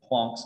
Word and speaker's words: Planck: grad school instructor who who told me he would fail me if i ever said planck's constant because it's plonk's constant he also was very